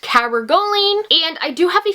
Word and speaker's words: cabergoline: various symptoms, and I believe the medication is pronounced cabergoline, and I do have a few notes here on my phone.